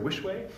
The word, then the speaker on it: Wischweh: Wischweh.